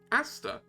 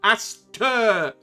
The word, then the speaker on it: Aster: Asta. Like the shop. And no, Aster. Ter.